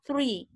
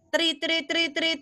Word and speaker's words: three: Three kamu tutup bibirnya bisa. Tri, bisa kan nggak kelihatan kan? Tapi kalau yang konsonan T ini kamu harus keluarin tri. Lidah kamu harus keluar sedikit dimasukin lagi.